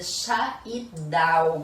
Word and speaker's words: Schaidhauer: E hoje o Doce Diário Materno está aqui mais uma vez com a doutora Scheidauer. Pronunciei correto, doutora?